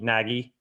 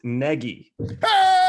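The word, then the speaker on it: Nagy: really it's not even it should be pronounced very different than how it's spelled yeah i think or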